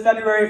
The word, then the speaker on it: February: who's had a fabulous February 1st nice who pronounces both ours like you're like February some of you just realize that there are in fact two r's in February all right all right